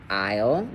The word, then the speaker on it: isle: So, AI, not artificial intelligence, but AI in language, um, when it's paired in a word like isle, okay, it's going to make a long i sound and your a will be silent.